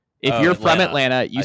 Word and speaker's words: Atlanta: If you're from Atlanta, you say Atlanta. I see. And it's wrong. Like we're just leaving out a t there as Ethan pointed out.